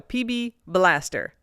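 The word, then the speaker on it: PB B'laster: penetrant per their ads the uh apostrophe does not get pronounced so PB Blaster okay okay the PB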